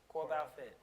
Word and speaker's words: Corebalfit: Exactly spelled exactly how it is. It's a COREBALFIT. So just as I spell it, the same way. Core Fit. Bal is short for balance, for Core Balance Fitness.